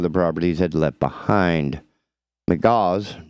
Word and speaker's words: McGaugh: McGaugh's, M-C-G-A-U-G-H, McGaugh's, I guess that's how it's pronounced, first bought the 3-bedroom, 2-bathroom house for $350,000 in April with plans to convert it into an Airbnb.